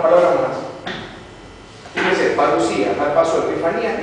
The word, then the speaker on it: epifanía: que es la expresión epifanía ep se escribe así epifane pero se lee epifanía pH es F y es y epifanía